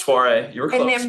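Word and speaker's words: Soirée: Am I pronouncing that correctly? Soiree, you were close.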